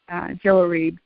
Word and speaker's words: Jehoiarib: But I look in the International Standard Bible Encyclopedia, and it says Jehoiarib, and the pronunciation there is Jehoiarib.